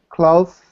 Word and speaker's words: cloth: So some people tend to pronounce it as more of an S. So I heard wreath, right? It's th. Your tongue comes in between your teeth.